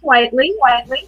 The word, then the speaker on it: Whiteley: looks to me like it's Whiteley, but you spell it. You say Whiteley, don't you? It's Whiteley.